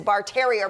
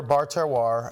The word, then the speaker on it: Bar Terroir: So you were schooling me on how to say it because everyone I know says Bar Terrier, but that is not how you say it. It is French. So we're Bar Terroir, and that is a